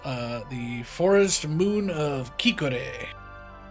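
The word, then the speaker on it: Khiquore: For context stream, it is Kikor is spelled K H I Q U O R E, which is not how I would have spelled that.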